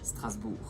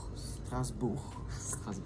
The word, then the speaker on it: Strasbourg: How do you pronounce it in French? Strasbourg. Strasbourg.